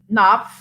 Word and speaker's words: Knopf: uh published by um naff alfred a knopf my mother says the k is silent something else she has